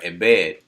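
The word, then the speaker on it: עֶבֶד: number for that word is h5650 and it's pronounced uh embed and the definition of it is a servant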